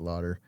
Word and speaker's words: Laughter: Yeah, pronounced it Lauder.